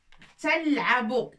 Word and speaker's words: تلعب: Tal'abu, ta, avec 2 points dessus, c'est ta.